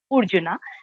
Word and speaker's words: Urjuna: And Sri Aurobindo has written Urjuna, uh, because at that time he was assimilating all the cultures, literature, Bengali, and so he wanted that exact pronunciation to come. So instead of A, he uses the alphabet U, Urjuna.